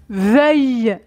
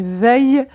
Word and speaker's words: veuille: vous le connaissez je ne crois pas qu'elle veuille attention à la prononciation je ne crois pas qu'elle veuille le faire deuxè phrase il faut absolument que